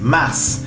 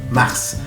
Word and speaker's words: mars: Y miren, se pronuncia la S, mars. Es una excepción, mars. No se olviden de pronunciar es mars.